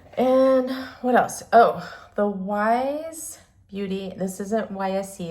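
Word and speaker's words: YSE: Oh, the wise beauty. This isn't YSC, it's pronounced wise.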